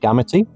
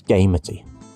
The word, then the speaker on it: Gamity: It is not gamuty, it's gamey.